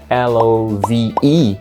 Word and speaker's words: love: A palavra love, esse som de V no inglês, apesar de ter um E, né, depois, love, L-O-V-E, a gente não pronuncia esse E, a gente fala love, como se fosse um E mudo.